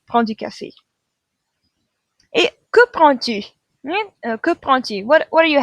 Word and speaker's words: prends: So even though they're spelled slightly differently, je and tu both have S's. They're all pronounced the same way. We don't hear that D at the end. We're going to end with a nasal sound.